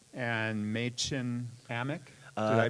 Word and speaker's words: Amick: and Machen Amick. Did I pronounce Amick, that right? I think it's Amick? Amick.